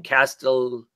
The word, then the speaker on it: Castellucci: Castellucci and Marley Zaccone.